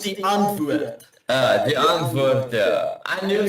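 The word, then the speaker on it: Die Antwoord: Oh, so Dianthword, it's pronounced Dianthword. It's Afrikaans, but it's all good. There's no hate. I'm just educating. Sorry. Right. Carry on. Pronouncing it wrong. It's pronounced the antwoord.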